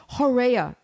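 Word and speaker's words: horrea: i'm i have to make sure that i pronounce this uh correctly it's called a uh horea h-o-r-r-e-a and it was underground galleries that the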